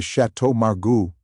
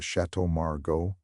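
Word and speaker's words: Château Margaux: We I'll have the chateau margu. Ah, yes. Let's get the burata. The waiter, to his credit, would simply blink, correct her with the most Americanized pronunciation possible, and move on. Oh, the Chateau Margo.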